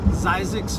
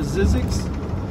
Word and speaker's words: Zzyzx: here we go the world famous zeiss road or sizzix look at it it's spelled z z y z x zeiss or zizzix road apparently the history with